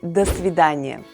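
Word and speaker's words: до свидания: goodbye you would say dasvidanya o si the stress is on the second word so letter o in the first word is pronounced as a and when you hear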